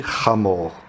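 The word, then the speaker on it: חמור: Âne, en hébreu, ça se dit chamor.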